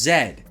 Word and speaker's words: Z: Z that's right okay that's how we say it in North America unless you're in Canada but in the UK it's pronounced Zed like this Z now